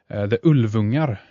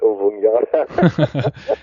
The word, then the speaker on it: Ulvungar: I love that, because of course I pronounce it Ulvunga, but yes, you're absolutely right, Ulvungar. And that would be the more correct.